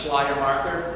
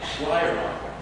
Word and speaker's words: Schleiermacher: Yes, pronounce Schleiermacher. When you're in seminary, you have to say that over and over and over and over again. Schleiermacher.